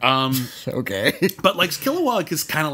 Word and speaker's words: Kilowog: also just kill wah I think they just kind of swallowed that no syllable it's got a lot killowog um okay but likes Kilowog is kind of like